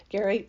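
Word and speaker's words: Gerry: think it's very fun Gary g e r r y but pronounced Gary my mate has done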